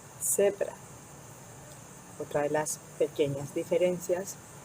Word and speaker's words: zebra: letra Z, la Z, se pronuncia como en algunos países de América Latina o incluso en Canarias, que no es como una Z, sino una Z, Z, como una S, zebra.